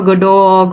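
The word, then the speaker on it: Godot: for God waiting for God or Godo or Gdo I'm like it's pronounced in both ways um this idea of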